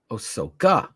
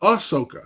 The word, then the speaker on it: Ahsoka: I won't forget it Ahsoka osoka no Ahsoka okay yes okay speaking